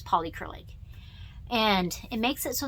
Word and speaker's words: Polycrylic: it's pronounced and it's called polycrylic like poly acrylic but it's polycrylic and it makes it